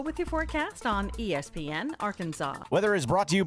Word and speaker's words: Arkansas: I got that wood, and that's how you pronounce it. Ain't Arkan. It's Arkansas, baby.